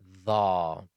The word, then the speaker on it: ظ: The is also a heavy letter and is pronounced from the tip of the tongue and the edge of the upper incisors.